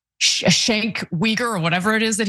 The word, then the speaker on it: Cenk Uygur: I grew up watching Anna Kasparian and Cenk Uygur on the Young Turks.